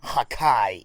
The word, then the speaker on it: Hakai: Even in the English dub, they still pronounce it as Hakai instead of just using the English translation destroy.